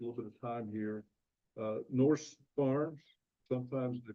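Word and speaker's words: Nourse: So I never know, it's spelled Norse, but they oftentimes pronounce it nurse. So either one, I suppose, works.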